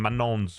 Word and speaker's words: Manon: Anyway, Pokemon admits she's embarrassed for mispronouncing Manon's name from Katsai this whole time.